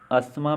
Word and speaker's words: asthma: तो देखेंगे फर्स्ट वाले में, इसमें अस्थमा में कौन सा जो लेटर है वो साइलेंट है, तो अस्थमा में साइलेंट लेटर है TH, यानी कि इसमें TH साइलेंट है।